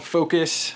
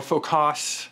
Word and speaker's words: Focos: video on it is called focus or focus it's spelled f OC o s with an O instead of a you go get it on